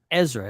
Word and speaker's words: Ezra: instead How Could An amnesiac Ezra is how you pronounce it Ezra play a